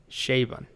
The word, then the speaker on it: Chabon: Well, I just Googled it, and apparently it's pronounced Chabon.